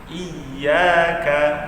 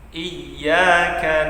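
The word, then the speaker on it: إِيَّاكَ: Di awalnya itu ada huruf hamzah yang berbaris bawah. Hamzah yang berbaris bawah ini, ingat cara pengucapan yang berbaris bawah itu mulut atau bibirnya itu tarik ke bawah. Iyyaka masuk ke huruf ya yang bertasydid, harus ada di situ nimrohnya atau tekanannya.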